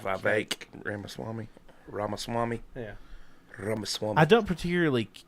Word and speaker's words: Ramaswamy: That's how that you actually pronounce his name is Vivek. Like Vivek Ramaswamy.